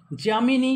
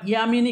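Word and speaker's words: যামিনী: আদম সুমারী চলো নেক্সট জামিনী বা ইয়ামিনী কৃষ্ণমূর্তি জামিনী ঠিক আছে আমাদের বাংলা উচ্চারণ হয় জামিনী তো জামিনী কৃষ্ণমূর্তি নৃত্যের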